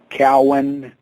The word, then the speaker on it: Kown: when to do that and Steve the proper pronunciation of the name is like it's c w n Cowan cow like a like a cow